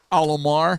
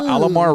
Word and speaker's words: Alomar: Alomar. Oh, I had to go take a poo-poo. You know, Alomar rhymes with Shalimar.